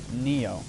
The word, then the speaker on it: Nioh: both is the game pronounced nio or n it's pronounced Neo cuz eyes when you're speaking Japanese when you're